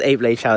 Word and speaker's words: Ap Lei Chau: Really like how they actually pronounce it as Ape Lei Chau Estate.